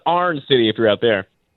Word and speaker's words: Iron City: It's pronounced pronounced Arn City if you're out there.